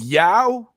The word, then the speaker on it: Yao: It's Yao. Yao. Okay. So I mean, it makes sense. It makes sense in Chinese dialect. That would be Yao.